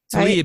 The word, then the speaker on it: Tlaib: Tlaib. Tlaib, is that how you say it?